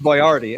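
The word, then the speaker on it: Boyardee: boy or D Fortune it's pronounced bardi actually sorry yeah bardi is actually the name you're right you know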